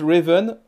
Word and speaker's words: Raven: Et la créatrice du jeu, elle s'appelle, alors vous lisez Révine Félan, mais en fait, Révine, on prononce Raven, et bah, Philan, hein, ça doit être une américaine ou une anglaise, enfin bref. Et voilà, ça se prononce Raven Philan, donc c'est marrant, elle